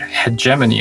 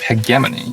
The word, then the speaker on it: hegemony: First of all, you pronounced the word hegemony as hegemony. Yeah. So it's actually pronounced hegemony.